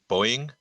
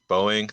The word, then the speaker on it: Boeing: to mention and I always get this company's name wrong I don't know why I cannot speak it but boing Boeing Boeing thank you I know I worked in Government